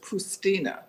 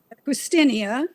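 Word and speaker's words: Poustinia: So she inspired you, and you particularly liked her choice of words, Pustina. Do I say it correctly? Pustinia, it's the Russian Pustinia.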